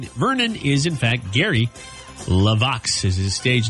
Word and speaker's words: LeVox: you wanted to but didn't say it right it's Gary laox Gary Wayne Vernon is in fact Gary levox is his stage name